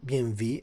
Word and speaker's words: BMW: I think it was uh coming from the BMW, BMV. I said I don't say BMW. I say BMV like my German cousin say how do you say that in BMV? So it's BMV and uh and and